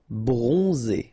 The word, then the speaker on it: bronzé: Bronzé, so O-N, on, and then Z, it's really pronounced like Z. Bronzé, bronzé.